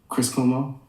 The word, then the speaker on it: Chris Cuomo: Chris Cuomo.